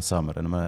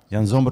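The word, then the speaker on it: Sommer: زومر وشكون يان زومر هم يقولوا يان سامر نتق زومر خطر بالالم ينطقها روما روما لا زومر اللي هو الحارس السويسري بازل بازل السويسري جابه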